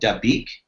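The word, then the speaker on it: Dabiq: propaganda booklet right called da beak if i'm pronouncing it right i believe so yeah yeah d-a-b-i-q and according to a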